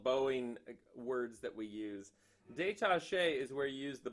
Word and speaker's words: détaché: Détaché is where you use the bow straight across and the weight never lets up. Okay? So this is détaché. And it sounds like the word detached.